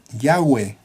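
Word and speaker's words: Yahvé: y hv w h cuya pronunciación se desconoce aunque lo más cercano podría ser ya ve que en español venimos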